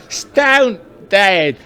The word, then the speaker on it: Stonedead: when i stoned there they said no you're pronouncing it wrong it's stone dead what is my that's